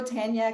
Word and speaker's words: Tania: well hello jennifer i think you did the canadian pronunciation of my name it's typically no i love it it's even better i sound more impressive than the american version which is really a french name so it's tonya katan but tanya